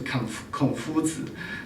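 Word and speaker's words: 孔子: The Chinese pronunciation is Confuzi, so Confucian, that's a little weird.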